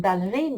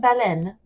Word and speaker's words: ballerine: Une ballerine. Il ne faut pas le prononcer comme baleine. Les ballerines.